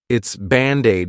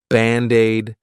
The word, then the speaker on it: Band-Aid: Of course is our contraction of it is, it's Band-Aid is 2 words. But to pronounce them like one, I'll take that D and transfer it to the vowel. Band-Aid, Band-Aid, Band-Aid, Band-Aid, fix.